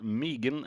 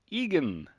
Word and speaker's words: Egan: william megan or uh technically it's not megan i've been saying it wrong all this time as long as i've known uh john it's uh come to my attention his name is actually john william egan and uh yeah since